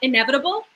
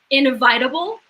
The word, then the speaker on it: inevitable: history book whatever and i read it as invitable because that's how in my brain that's how i said it like and i understood